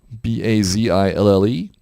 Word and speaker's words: Bazille: One is Botzilla. That is pronounced Botzilla. Bazille.